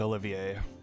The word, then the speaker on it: Olivier: It's the first time they've actually voiced his code name, so it's pronounced Olivier.